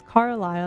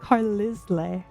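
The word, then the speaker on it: Carlisle: as a kid, I didn't know how to pronounce pronounce Carile until I asked my mom. I'm like, "Hey, how do you pronounce this name?" And she's like, "It's Carlile." I'm like, "So, you mean it's not Carisle?"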